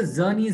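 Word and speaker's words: Czerny: It's called the zernes retractor which starts with the C. The C is silent.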